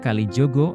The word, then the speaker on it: Kalijaga: Assalamualaikum warahmatullahi wabarakatuh sebenarnya dalam bahasa Jawa pengucapan Kalijaga adalah Kalijogo atau Jogo kali maknanya